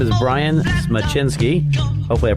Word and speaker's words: Smyczynski: a great gr guest his name is Brian schinsky hopefully I pronounced that correctly correct sounds great now let